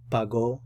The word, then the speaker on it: pagó: And pay attention to where the accent mark is. That's where you put the stress. So put the stress on the last syllable. Pagó. Pagó. If it didn't have the accent mark, then it would be pago. You put the stress over here, and that's a different subject, and that's a different verb tense.